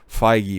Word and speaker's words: Feige: it is kevin f feige feige make sure to pronounce that correctly if alonzo's past statements